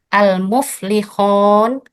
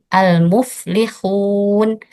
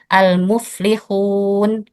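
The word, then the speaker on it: المفلحون: Kemudian bunyi wau madiyah menjadi bunyi o. Sebagai contoh seperti ini, pembacaan yang salah. Almuflikun. Almuflikhun kayak ada huruf O-nya. Itu adalah ee yang salah. Kemudian yang benar seperti ini. Almuflikhun. Almuflikhun.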